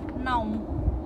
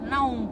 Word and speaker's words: não: So like say now, you pronounce it as não, não. Like João.